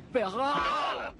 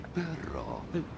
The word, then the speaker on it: perro: Los alemanes pronunciáis muy mal las R's, ¿verdad? Pues voy a enseñarte algo fácil para empezar. No es muy difícil. Repite después de mí. El perro de San Roque no tiene rabo.